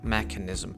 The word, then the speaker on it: mechanism: Якщо у вас є слово, яке майже однакове в англійській і в українській, і там є ch, як слово механізм, mechanism, то оце ch читається як к, тобто не ч, не х, а к.